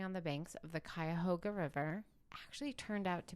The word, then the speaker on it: Cuyahoga: I swear on my life, it's Cuyahoga.